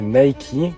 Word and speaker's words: Nike: business party man like la plupart des gens prononce mike mais il faut prononcer micky car c'est en hommage au dieu grec de la victoire puis au grand just